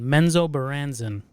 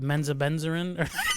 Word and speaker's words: Menzoberranzan: And it's called Menzoberranzan is the name of the city. And I always had it Menzobenzarin.